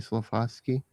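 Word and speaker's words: Slafkovský: Slafoski.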